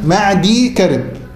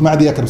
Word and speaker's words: معدي كرب: هي النطق الصحيح بتاعها ايه؟ معدي كرب. انا غلطت قلت معدي يكرب، صح؟ هي معدي كرب. يبقى بنسكن الياء، الياء ساكنة، معدي كرب، واضح يا اخوانا؟